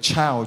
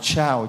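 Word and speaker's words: ciao: Phát âm giống như là chào, chào, chào, là tiếng chào của tiếng Ý, chứ không phải là tiếng chào là tiếng Việt Nam mình.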